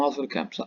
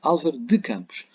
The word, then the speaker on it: Álvaro de Campos: E já agora é Álvaro de Campos. Não digam Álvaro Campos, Álvaro de Campos.